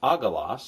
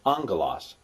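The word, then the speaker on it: ἄγγελος: is two gamas GMA GMA and it's not pronounced aalas it's pronounced angas and you would even transliterate it you would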